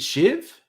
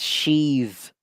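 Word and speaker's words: Sheev: Is it Shiv? It's Sheave.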